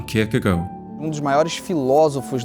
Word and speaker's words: Kierkegaard: HERE DIED SØREN KIERKEGAARD ON NOVEMBER 11TH 1855 Kierkegaard. I mean -- In Brazil, we say it like that, but that's certainly the wrong pronunciation. Indeed, a closer pronunciation would be Sir-hen Keir-keh-goal.